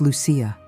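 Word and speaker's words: Lucía: My name was Lucia with an accent on the eye.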